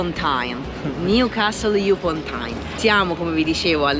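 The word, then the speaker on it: Newcastle upon Tyne: da qui, da questa città che è Newcastle a Ponto. Sbagliato la pronuncia.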